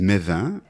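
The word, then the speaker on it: Mesvin: Ça s'écrit Metz-20, mais on dit Mévin.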